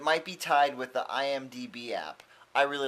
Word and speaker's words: IMDb: be tied with the IMDb app I really like the IMDb app I always say it wrong I always say IMBD anyway um the people